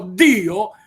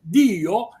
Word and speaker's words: Dio: Dio si pronuncia con la doppia D, quindi quando io dico Dio non sto parlando male, sto parlando l'italiano standard. Se dovessi dire invece Dio, non sto usando l'italiano standard.